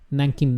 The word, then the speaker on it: Nankin: city eventually those chinese immigrants established their own nankin machi nan king been the japanese pronunciation of nanjing and nankin machi later evolved